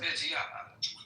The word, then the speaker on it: Reggiano: Reggiano. You gotta say it like that. You said it too properly, man. Reggiano.